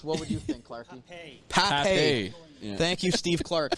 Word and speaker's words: Pape: Pape. Yeah. Thank you, Steve Clark, for the great pronunciation.